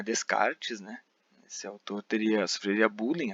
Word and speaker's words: Descartes: Aliás, a pronúncia é Descartes, não é Descartes, né?